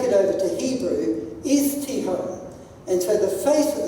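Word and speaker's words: תהום: The word deep there, as you can see on the slide, is, I gather it's pronounced Tihom. T-E-H-O-M-E, if you like, Tihom.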